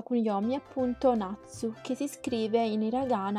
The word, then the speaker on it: 夏: tanti di narzo la pronuncia cui omi appunto natsu che si scrive in iran ha così questo e mezzo